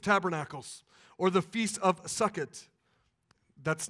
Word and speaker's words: Sukkot: the Feast of Tabernacles, or the Feast of Sukkot. That's not spelled S-U-C-K-I-T. It's spelled S-U-K-K-O-T, just to make sure that everybody understands what I'm saying when I say that.